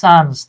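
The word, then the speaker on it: sons: সে তার জমিটারে ভাগ করে দিল ড্যাশ হিস সন্স তার ছেলেদের মধ্যে। হ্যা তার সন্তানদের মধ্যে। হ্যাঁ। আমরা অনেকে সন্স বলি। উচ্চারণ সানস।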